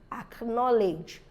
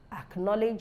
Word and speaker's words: acknowledge: right so we have acquaintance Nazi is not pronounced it's thrown away acknowledge acknowledge you have acquaintance and you have acquaints so